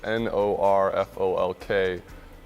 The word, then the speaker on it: Norfolk: do you say it Norfolk okay Norfolk Nebraska it's spelled N o RF o lk but it's pronounced Norfolk okay now explain that